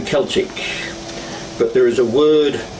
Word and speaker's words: Celtic: They're given that K sound in a hard sound, not the soft. You know the difference between Celtic and Celtic? Yeah. It's the same word, but just pronounced slightly differently.